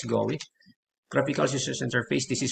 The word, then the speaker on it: GUI: the graphical interface or what we we pronounce this as go graphical us interface this